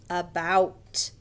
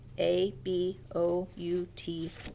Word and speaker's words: about: dog the next word about ou makes an ow sound it has the word out in it about a b o u t about the next word